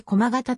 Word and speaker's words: 駒形: 人々によれば駒形の読み方は細た時よく発音して駒形とは濁らないと言うここは古来